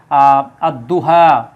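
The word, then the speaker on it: الضحى: এর পরে হচ্ছে দত এটা হচ্ছে সূর্যাক্ষর যেমন আদ দুহা দুহা যদি আমরা দেখি দুহা এটা পাবেন সূরা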